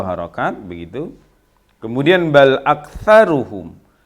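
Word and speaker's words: أكثرهم: Kemudian bal aktsaruhum, bukan aksa tapi aktsa, karena itu adalah huruf tha. Bukan sya ya. Bal aktsaruhum la yu'minun.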